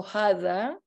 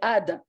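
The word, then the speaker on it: هذا: So in Muslim Arabic, you will say also hadha, but the Arabic, the Jews don't pronounce the ha, so they say, they would say ada.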